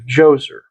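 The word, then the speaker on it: Djoser: I heard it pronounced Jose. I've heard Joser, but the all the all all the narrators were prim and proper British guys and they're saying Joser. All right. Well, can't argue with the prim and proper British guys. We all know how us Americans just mispronounce right? So, if it's Joser to them, it's Joser to us.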